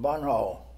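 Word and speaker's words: Bonneau: out to a little town of Bunhall. That was B-O-N-N-E-A-U. I guess that's a French name, the way it's spelled.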